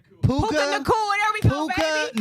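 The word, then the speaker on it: Puka Nacua: Puka Puka Nakua.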